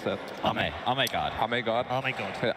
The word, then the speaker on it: Ame: game closer, probably for Amy, how do you pronounce that? Ame God.